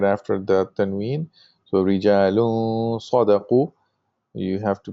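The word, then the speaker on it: رجال: So rijalun sadaqu. You have to pronounce the gunna, and you have to do ikhfa, meaning you don't pronounce the noon like rijalun. You have to say rijalun sadaqu.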